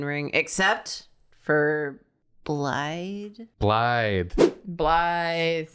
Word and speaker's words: Blaidd: Speaker: Blaidd. It's got two Ds but it's pronounced like blithe. Speaker: Okay, I wasn't sure. Speaker: It's like Welsh or whatever. Speaker: I just knew it wasn't blade.